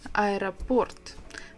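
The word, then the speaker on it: аэропорт: begins with this is I report the stresses on the last syllable Port I report that's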